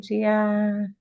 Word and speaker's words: Gia: Ariel introduced your intern, and your name is spelled GIA, but that could be two ways. Can you come off mute and let me know? Yeah, it's just pronounced Gia. Just like I would think.